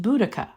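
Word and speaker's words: Boudica: business her name was bodacia another spelling of her name could be pronounced boudicca but whatever way you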